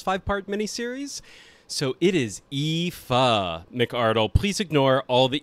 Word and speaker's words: Aoife: director on season 1 Epi McArdle nope I pronounced that wrong it is EA McArdle AO i f i